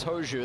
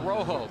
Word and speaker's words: Rojo: count right away Lucas hu that's how it's pronounced but it's spelled rjo you would think Rojo but that's not it bouncing ball to short